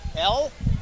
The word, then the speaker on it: Elle: L? E-L-L-E? Yep, like the letter L.